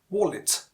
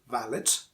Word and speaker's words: wallet: Look at the pronunciation, wallet, not valid. And that one is another important thing. Wo. It's a bilabial sound, or you can also call it a labio-veal sound, not a labiodental sound.